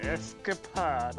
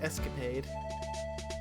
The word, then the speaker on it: escapade: went off on an escapod on his own I believe it's pronounced Escapade yeah it is Aid escapod es escaped escap